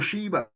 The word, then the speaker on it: Sheba: But Seba can be pronounced Seba or Sheba. It's the same thing.